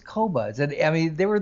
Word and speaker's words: Qobuz: they just refuse to change they they like cubase but i do understand that the name is kobas correct kobas yes and that doesn't bother us even in